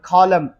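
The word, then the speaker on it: column: m के बाद अगर n लगा लो तो फिर n को आप साइलेंट ही कर दोगे. Like for example कॉलम n silent है, ऑटम n साइलेंट है.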